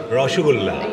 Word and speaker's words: rasgulla: Just like Rasgulla. - Rossogulla.